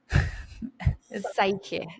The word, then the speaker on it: Seiche: Seiche.